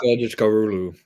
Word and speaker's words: Kılıçdaroğlu: Yeah, Kılıçdaroğlu. I think it's just you don't even pronounce the G on the second part of his name or whatever.